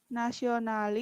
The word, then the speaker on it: nationally: Remember, it should be A is silent before the double LY.